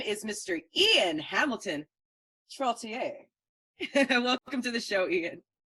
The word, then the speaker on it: Trottier: It's very easy to miss the I in his name and just want to call him Trotter. But his name is Mr. IAN Hamilton Trottier.